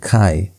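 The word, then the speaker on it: chi: the Greek it's ar you also have kai which looks like x in the English but in the Greek it has that ch sound kai and then you have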